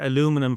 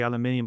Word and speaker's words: aluminum: there's a kit uh aluminum for our US colleagues is I think how you pronounce it. We say aluminium, but aluminum Uh and we have permanent rare earth neodymium magnets inside inside those manifolds.